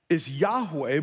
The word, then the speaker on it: Yahweh: And the name Yahweh, and we're going to find out its origin, is really impronounceable in the Hebrew. It's four vowels, and the closest we can get is Yahweh, but it means this: the self-existent, eternal, covenant-keeping God.